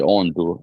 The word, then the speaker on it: Ondo: I'm saying Ekiti and the Sunshine State, which is Ondo, or let me pronounce it properly, Ondo.